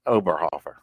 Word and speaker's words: Oberhofer: I know I didn't get that exactly right oberhofer yeah you got it right Sam well that's